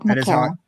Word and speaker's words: Macarah: It is the lovely Makara. Hi. That is how you pronounce it correctly. At Makara.